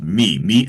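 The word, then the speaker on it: Mi: This is it's spelled M-I, but it's pronounced me Antilles.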